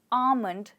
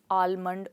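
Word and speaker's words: almond: बादाम बादाम को हम इंग्लिश में कहते हैं आमंड, ना कि आलमंड और एलमंड। इट्स आमंड। तो आपने गेस कर लिया होगा कि इस बहुत कॉमन वर्ड में L साइलेंट है जिसको अक्सर लोग बोल देते हैं, तो ये है आमंड।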